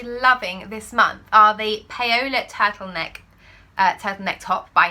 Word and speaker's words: Paola: So it's not actually pronounced Paola, I've learnt this, I say it right now, Paola, there you go, the Paola top.